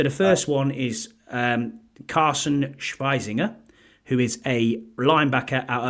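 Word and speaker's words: Schwesinger: So the first one is Carson Schweizinger, who is a linebacker out of UCLA, and I used the German pronunciation there.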